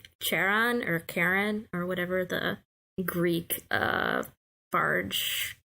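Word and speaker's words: Charon: his name Sharon or Karen or whatever the Greek barge keeper yeah Karen that's stupid H is silent so anyway she writes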